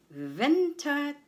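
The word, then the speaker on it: Winterzeit: Ventatite. Ventite. The stress is on vin on the first syllable vented site or what you call normal sight.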